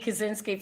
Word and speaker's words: Kusinski: How do you pronounce it in Chicago? Well, it's Kusinski, but like my grandfather was Kusinski.